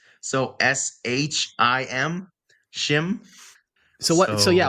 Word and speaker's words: shim: proper pronunciation for slesh isn't he or she it's shim so s h i m shim so what so